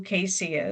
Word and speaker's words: CACEA: Before I move forward, just in case you don't know who CACEA is, the A is silent.